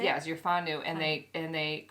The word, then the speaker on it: whānau: So they take you in on as their whānau. Is that how you say it? Yes, you're whānau, and they call you auntie.